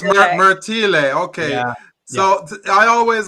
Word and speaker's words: Martile: Oh, it's Martile, but you know what? It's because my dad's Italian and then he immigrated to Canada. It's Martile. That's So why. it's Martile.